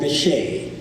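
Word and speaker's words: Bitche: So we went east of Paris to a town called Vichy. It's spelled B-I-T-C-H-E.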